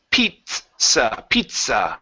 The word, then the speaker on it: pizza: Pizza. Pizza. It's a t sound before the the s.